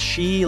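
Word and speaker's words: 四: The number 4, pronounced shi like death, and 9, pronounced ku like suffering, are shunned.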